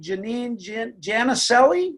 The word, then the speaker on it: Janine Jannicelli: And so today, the show is graced by the lovely Janine Jannicelli. Is that how you pronounce it?